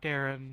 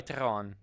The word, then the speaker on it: Teron: was kind of Point not Darren yeah sry teron yeah oh every time